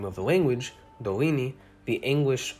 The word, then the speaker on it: Dorini: r sound as you can tell when i'm pronouncing the name of the language dolini the anguish r is not used dorini nor is it trilled or tapped dorrini or